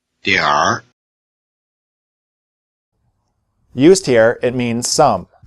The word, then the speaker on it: 点儿: Repeat both versions after the speaker and notice that the northern pronunciation has a different vowel as well as having an R at the end instead of an N. 点点儿点点儿 Used here it means "some".